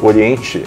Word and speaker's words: Oriente: O é a pronúncia na língua inglesa, internacional usada em vários países, mais dos 70 países onde a Orient é vendida. E Oriente é a pronúncia em português que também ela é válida.